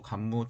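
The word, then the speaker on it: 桓武: 794년 환무 천황, 일본어 발음으로 간무 천황이 해이안교, 평안교로 천도할 때까지 지속되었습니다.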